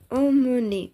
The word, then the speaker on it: emmener: இதை உச்சரிக்கும் பொழுது கவனிக்க வேண்டும். amener இதை உச்சரிக்கும் போது ஆ என்று தொடங்குவோம். ஆனால் இங்கு emmener என்று உச்சரிக்க வேண்டும்.